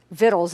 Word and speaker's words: victuals: And he comes with this huge offering of food and victuals to provide, or victuals is literally how that's pronounced, in case you were wondering.